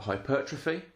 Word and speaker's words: hypertrophy: Hypertrophy. You may have heard it pronounced hypertrophy. Either is absolutely fine.